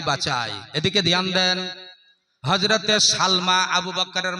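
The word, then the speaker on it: سلمى: আবু বকরের নাম হচ্ছে, মায়ের নাম হলো হযরতে সালমা। জোরে বলেন নাম কি? সিন লাম জবর সাল, মিম খারা জবর মা। কি রে হলো উচ্চারণ? সালমা।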